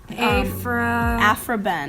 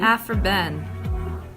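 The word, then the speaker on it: Aphra Behn: Olivia, do you think I could get your help pronouncing a name? Aphra-Behn. Aphra-Behn.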